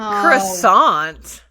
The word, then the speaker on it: croissant: Do a croissant. No. Croissant. Croissant. You have to say it like that.